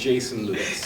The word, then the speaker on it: Jason Lewis: Yeah, you did pronounce it right. It's Jason Lewis.